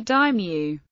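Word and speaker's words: дым: Other examples are re, dym, and v dymu. As indicated by the accent marks, the stress is always on the last syllable, which is unlike the dative case forms with the same spelling.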